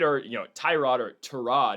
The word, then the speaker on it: Tyrod: You're going to need, Tyrod, as Baker Mayfield says it's supposed to be pronounced, Tyrod Taylor is going to need to get the football to Breece Hall.